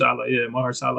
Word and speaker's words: Mahershala: Mahershala.